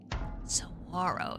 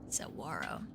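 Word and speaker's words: Saguaro: Sawarro. There's no G. Sawarro. Well, there is a G in the word, but not pronunciation.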